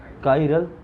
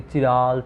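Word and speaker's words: chiral: इसको प्रोनाउंस करते हैं बेटा, ठीक है, काइरल। बाकी चिराल चाइरल मत बोला, ठीक है।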